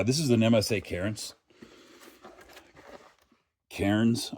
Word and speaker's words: Cairns: Kairens, I think is is how it's pronounced.